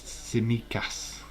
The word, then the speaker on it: Tsimikas: Dave T is silent, so it's Tsimikas.